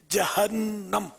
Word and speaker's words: جہنم: کی دلربا ادائیں، مرحبا۔ ایک غلط العام ایک لفظ ہے جہنم، اس میں بھی پڑھا گیا جہنم، بچی نے پڑھا، لفظ جہنم نہیں ہے، اصل تلفظ جو قرآن کریم میں جہنم، بہت عام ہے جہنم۔ صلو علی الحبیب